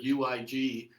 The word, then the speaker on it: Uig: Well, yeah, it's funny because the first three letters in the word UIG at the far end of the Isle of Skye in Scotland is a little town called Uig. That's how it's pronounced.